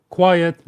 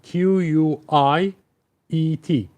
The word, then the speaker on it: quiet: Be careful with the spelling. Q U I E T. So, we have three vowels in a row. Three vowels in a row. UI, E. And it's two syllables. Yet quiet.